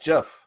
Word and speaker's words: GIF: go in there oh how's gif pronounced so it should be pronounced jeff it is like the brand of peanut butter okay i stand corrected